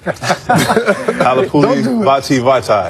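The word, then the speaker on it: Halapoulivaati Vaitai: Halapuli Vitae. I actually put it phonetically in the prompter. Dwayne, you want to give it a shot right there? Halapuli Vitae.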